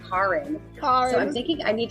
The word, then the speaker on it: Karin: would spell it, and they would actually pronounce it Karin.